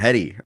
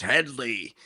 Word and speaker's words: Hedley: Um and they kept on getting his name wrong. They kept on calling him Hedi all the whole the whole film. And he's like, "It's Hedley."